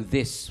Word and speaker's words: this: pag pronounce mo nung this medyo matigas e this parang tigas nung this gawin mo This is the moment ba Hwag m masyadong idiin yung this nagiging d imbes na TH so medyo lambutan